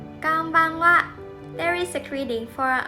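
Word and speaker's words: こんばんは: And the last character is ha, but we also pronounce it as wa.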